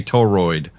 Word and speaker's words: toroid: I'm going to start correcting you when you say toroid. Toroid is how you say it.